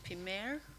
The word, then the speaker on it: Pima: My name is actually Pimer, but I understand it's been mispronounced all my life.